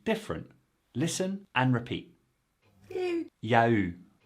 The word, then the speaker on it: il y a eu: your ears, but no, the written and spoken forms are simply different. Listen and repeat. Ya eu. Ya eu.